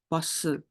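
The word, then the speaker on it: 보스: Jadi bacanya bos gitu. O-nya ini bukan yang O bulat ya guys. Ini yang agak naik jadi bos.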